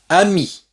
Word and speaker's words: amie: Un ami, masculin singulier, une amie, féminin singulier, avec le E à la fin. Comme il n'y a pas d'accent, on ne prononce pas le E. Donc, on prononce jusqu'au I.